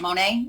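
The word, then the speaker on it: Monat: to this company called Monet or Monet I don't know how to say that Monet is how you say it guys they're like oh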